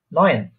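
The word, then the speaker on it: neun: নয়েন, ন, নয়েন, নুয়েন, নয়েন, ন, নয়েন, হ্যাঁ, হ্যাঁ নয়েন।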